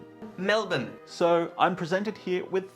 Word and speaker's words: Melbourne: morning person in general and as I'm in Melbourne not Melbourne because it's pronounced Melbourne I want to make the most out of